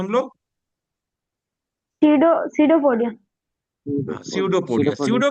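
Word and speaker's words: pseudo: जैसे इ यू लगा है ना यू यू लगाए थे ट्रू के लिए तो सडो जहां लग जाएगा पी साइलेंट रहता है पी एस ई यू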